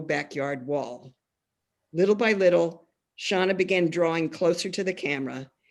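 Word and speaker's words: Xana: that really celebrates to me the book and shauna which is spelled x-a-n-a is angry at the failure of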